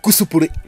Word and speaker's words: cosplay: Le cosplay, ou cosplay, quand on le prononce à la japonaise, est la contraction de deux mots anglophones.